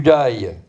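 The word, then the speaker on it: Day: la rive gauche du dail ça sécrit des a y et ça se prononce da les légionnaires racontent leurs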